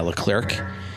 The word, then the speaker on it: Leclerc: named charles uh le clerico i can't ever pronounce the clerk yeah leclerc he is the most handsome person i've ever